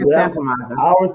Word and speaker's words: Santa Monica: They say you don't pronounce the T Santa Monica. You say Santa Monica.